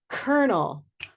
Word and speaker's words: colonel: Colonel, colonel, purple shirt colonel.